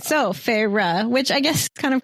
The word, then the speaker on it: Feyre: So, um, her name, you find out at some point, is Farah, or how do you pronounce it, Holly?